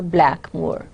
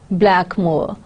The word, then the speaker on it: Blackmore: It is a fictional valley, but Hardy continuously reminds us that there are two accepted pronunciations of the name.